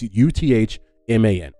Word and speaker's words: Uthman: But when you pronounce it in Arabic, it sounds like Ottoman. It's Uthman, Ottoman, right?